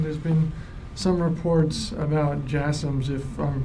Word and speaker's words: JASSMs: There's been some reports about JASSMs, if I'm pronouncing that correctly. The last question, yes, JASSMs. Yeah, you're pronouncing it correctly.